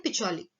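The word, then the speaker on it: Pacioli: इसको इंग्लिश में प्रोनाउंस करते हैं पिचोली, राइट?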